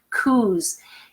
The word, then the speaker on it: coos: the field, the Highland coos. If you've never heard that before, that's how they say in Scottish. They call them Highland coos, and it's spelled COOS, not that they're saying cows differently.